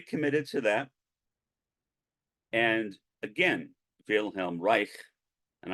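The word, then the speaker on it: Wilhelm Reich: to that and again Vel Reich and I'm pronouncing his name in the German Way most Americans say will hamri but he was German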